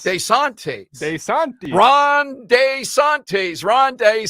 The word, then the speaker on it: DeSantis: it's common for Italian Americans to anglicize their pronunciations but that DeSantis surprised him he says it should be de santis DeSantis DeSantis desantes de Santi Ron desantes Ronde Sante monias d-a-y